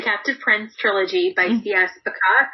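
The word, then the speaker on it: Pacat: Prince trilogy by India's macaque I think is how she pronounces her name PACA T and it's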